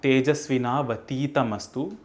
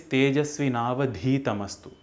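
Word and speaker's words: tejasvināvadhītamastu: It is not Tejasvinavatiitamastu, it is Tejasvinavadhitamastu.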